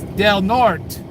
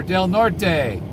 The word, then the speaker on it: Del Norte: And this is Del Norte, or Del Norte. I call it Del Norte. Locals call it Del Norte because they don't want to pronounce the Spanish way.